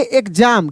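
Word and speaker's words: exam: ज भी पढ़ते हैं। तो यहां पे इसको पढ़ेंगे एग्जाम। क्या पढ़ेंगे? एग्जाम पढ़ेंगे।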